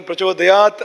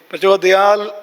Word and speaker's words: ಪ್ರಚೋದಯಾತ್: ಅದು ಹತ್ರ ಇದೆ ಅಂತ ನಮ್ಮ ಕೇರಳದಲ್ಲಿ ಸಾಮಾನ್ಯವಾಗಿ ತಕ್ಕೆ ಲವನ್ನ ಬಳಸುತ್ತಾರೆ ಸಂಸ್ಕೃತದ ತಕ ಕಾರಕಾರ ಬರುವಲ್ಲಿ ಲಕಾರವನ್ನು ಬಳಸುತ್ತಾರೆ ಈಗ ಉದಾಹರಣೆಗೆ ಪ್ರಚೋದಯಾತ್ ಅನ್ನುವಲ್ಲಿ ಪ್ರಚೋದಯಾಲ್ ಅನ್ನೋತರ ಬಳಸುತ್ತಾರೆ ಕೆನ್ನಡದಲ್ಲಿ ಯಾಕೆಂದರೆ ಆ ಅಕ್ಷರಗಳು